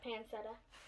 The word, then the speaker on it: pancetta: and then this one it's panseta's that's how you say it i think pancetta yeah pancetta because we've got it's